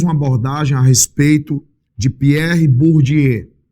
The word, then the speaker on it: Pierre Bourdieu: E ele fez uma abordagem a respeito de Pierre Bourdieu. Pronunciei correto, João? Pierre Bourdieu.